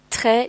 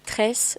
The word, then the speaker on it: très: But you made a mistake because instead of très, you said tresse, but it's not the same.